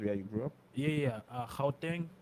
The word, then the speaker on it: Gauteng: Gauteng. It's not pronounced Gauteng.